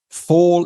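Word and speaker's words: Phol: I'm actually going to pronounce that PH as an F, and I'll tell you why later. So here we go. Fall in die Woden, foren sie Holze.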